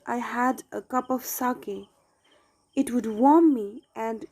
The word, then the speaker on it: sake: Okay, because of that, the father felt very cold and he wanted to have a soup like liquid, that is sake. Okay, it is pronounced as sake.